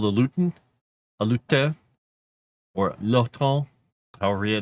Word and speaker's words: lutin: creature is called a lutin, a lute or lon, however they want to pronounce it in their Frenchy French way. It's l u t i n which sounds like lutin.